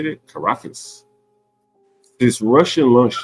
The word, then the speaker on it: Caracas: Caracas.